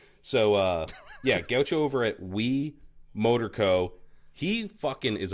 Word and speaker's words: Hui: It's HUI, by the way. It's pronounced we, like We. the proverbial we, Like the But, French.